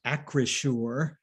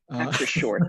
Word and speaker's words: Acrisure: And by the way, it's pronounced Acrisure. Acrisure, thank you. Acrisure. Difficult coined words.